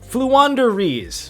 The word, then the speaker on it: Floowandereeze: in bursts of destiny flu wanderies quick pronunciation breakdown they flew they wander and they have a breeze so flu wanderies this archetype is 100